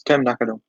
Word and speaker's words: Tam Nakano: It's Tam Nakano.